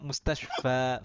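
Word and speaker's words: المستشفى: Makanya dibacanya mustashfa, fa bukan kasroh. Kalau itu ya, maka dibaca fi. Gitu. Itu alif, makanya dibaca fathah.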